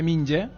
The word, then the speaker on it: Minjae: kin claro k y en su camiseta lo dice minjae que se lee minje verdad y Ese es su nombre verdad minje King exactamente 1.90 27